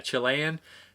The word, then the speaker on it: Chilean: Yeah, Chilean.